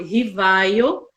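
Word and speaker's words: Rivail: Com os estudos do professor Hippolyte Léon Denisard Rivaio, que assumiu... Olha aí a esse é o pronúncia, nome, gente.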